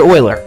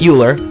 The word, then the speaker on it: Euler: This man's name was Leonard Euler. Yes, I know it looks like Euler, but it's pronounced as Euler.